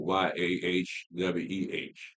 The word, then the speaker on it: Yahweh: When you listen to it phonetically, the people that told them how to pronounce the name, they kind of came up with YAHWEH, Yahweh, because that's how it sounds phonetically, even though you don't have any vowels and the tetragrammaton.